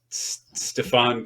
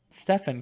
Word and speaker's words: Stephen: Stefan Curry. Yeah. I've seen it in writing a lot, but I've never had to say it. It's not Stefan Curry. How you pronounce his name? Stephen Curry. Stephen.